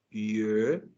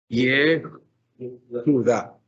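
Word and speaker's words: יהודה: Una palabra como Judá se escribe, observen, Yehuda. Aquí tiene la palabra. Yehuda. Yehuda.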